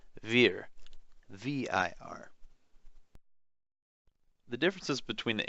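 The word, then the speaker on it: wir: unloaded letters shown here german words beginning with the w are actually pronounced with a v for example the word we in german is spelled w i r but it is pronounced veer v-i-r the differences between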